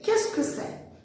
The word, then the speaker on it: qu'est-ce que c'est: Lembra que eu falei que nem sempre no francês, eu acho que na maior parte das vezes no francês, você não vai pronunciar o que está escrito, tá? Então, a pronúncia é qu'est-ce que c'est?